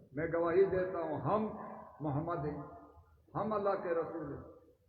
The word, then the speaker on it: محمد: ان محمد، استغفر اللہ، نبی کا نام محمد ہے، محمد نہیں ہے۔ اشہد ان کا معنی یہ ہوتا ہے میں گواہی دیتا ہوں ہم محمد ہیں، ہم اللہ کے